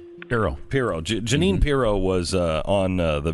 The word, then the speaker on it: Pirro: Pirro.